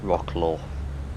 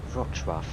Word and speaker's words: Wrocław: But I may fly the other way, Stansted to Wrocław, because I want the controller to pronounce it wrong. Rocklaw, something like that. But it's actually Wrocław.